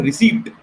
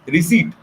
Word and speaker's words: receipt: Okay, a P is silent. It's not receipt. It is receipt.